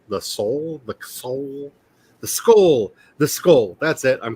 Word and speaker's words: CSOL: So if you're interested in we need to find a way to pronounce the acronym CSOL, the soul, the soul. The skull.